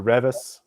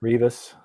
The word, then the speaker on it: Rivas: Team Gabriel Rivas or Revis. I never know how to pronounce their name. Revis. Is it Rivas or Revis? Rivas.